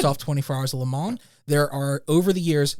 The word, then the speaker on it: Le Mans: Le Mans, sorry.